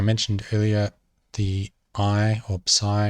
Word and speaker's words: psi: earlier the i or psi is a bit like psychology with p up front i'm just emphasizing that